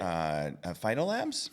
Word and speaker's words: PhytoLab: PhytoLabs. PhytoLab. PhytoLab. PhytoLab. Just for, I'll take either pronunciation, but when you're looking it up online, you're going to want to drop the S.